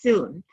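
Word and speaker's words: cun: term soon it's pronounced it's written C UN but it's pronounced soon and that's a measurement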